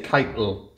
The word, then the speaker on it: Kite Hill: Yeah, instead of saying Kite Hill, they say Keitel. Keitel, And that's where the red kites would have been.